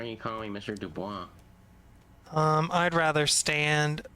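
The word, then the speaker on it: Du Bois: Dubois? I'd rather stand. It's pronounced Dubois.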